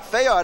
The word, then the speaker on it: Fayard: And we have, I think, a naturalized Brooklynite with us, Fayard Nicholas. Did I correctly pronounce it? Fayard Nicholas of the Nicholas Brothers. Yeah. Right. Fayard. It's a French name.